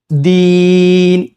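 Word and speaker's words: الدين: ഒരു യാ ഉണ്ട് യാ അപ്പ അവിടെ എന് നീട്ടണം ദീൻ ദീൻ അര അലിഫ്ല എന്ഒരു ഹർക്കല്ല കുറച്ചു നീട്ടണംദീ അവസാനം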